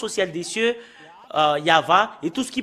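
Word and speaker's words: Yahweh: de de Torah qui stipule bien que c'est yava qu'on le prononce et c'est cela avec cela qu'on le prononce au ciel des cieux yava et tout ce qui prononce le nom de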